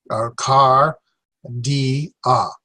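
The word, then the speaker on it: καρδία: So there's 3 vowels, 3 syllables. Ka, car, di, a. Cardia.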